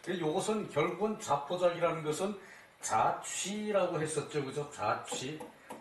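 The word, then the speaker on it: 自暴自棄: 이제 저기 그 폭력할 때는 이 폭이라고 읽죠, 그죠? 그리고 저기 이제 그 외에 포악하다 뭐 저기 이럴 때는 다 포예요. 스스로 포기할 때 저기 스스로에게 사나운 것을 자포라 그래요.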